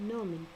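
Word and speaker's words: gnomon: triangular pointer called a Norman please this G is silent Tori the triangular pointed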